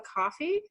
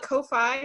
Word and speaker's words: Ko-fi: say I'm in the process of setting up a coffee, if that's how you pronounce it. I keep wanting to call it Ko-Fi, but I've been told it's coffee, so.